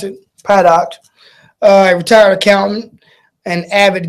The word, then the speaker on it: Paddock: get that but anyway so the gunman Steven paddock product fed out that's how you pronounce it product I retired accountant an avid gambler and educated